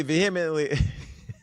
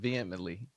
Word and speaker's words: vehemently: attorney said Mr Kelly vehemently vehemently what H is silent vehemently veh okay the attorney